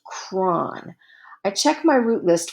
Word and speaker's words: chron: The letters that are left after separating the prefix and suffix are CHRON. I think that's pronounced cron.